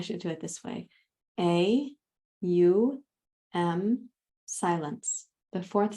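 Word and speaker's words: AUM: And the M is mm. And I like to put the lips inside the teeth because the vibration goes in and up towards the upper palate.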